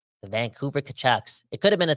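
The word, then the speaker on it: Tkachuk: do man Dr Zeus kachuck even rhymes with kanuck the Vancouver kachuck it could have been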